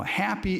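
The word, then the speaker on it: Hapi: Nile and happy now happy is spelled ha A P it's not like the Seven Dwarf happy this happy is considered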